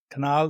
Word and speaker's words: Canal: this week Canal canal. Did I pronounce it? My pronunciation skills millio are not the greatest. So you'll have to make sure that I just sue canal. So it's easy root canal.